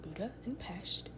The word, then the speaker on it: Budapest: summary for budapest i learned that it is pronounced buddha and pasht budapest is not one city it's actually two